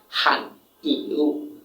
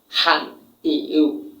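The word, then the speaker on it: 汉语: হানিউ মানে কি, হান ইউ, হান ইউ, হান ইউ মানে হচ্ছে চাইনিজ ভাষা। এভাবে উচ্চারণ করতে হবে।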